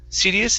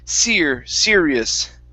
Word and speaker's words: serious: Instead of serious, it's serious. Serious. Okay, one more time. You're saying serious, and you're hitting your tongue to the top of your mouth. Push your tongue down for that R.